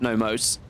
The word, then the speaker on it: Nomos: Nemos is glad. What is Nemos? Or Nomos, I should say. It's Nomos.